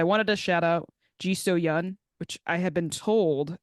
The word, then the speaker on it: Yan: to shout out gisto Yan which I have been told that it's pronounced the young rhymes with sun so yeah for folks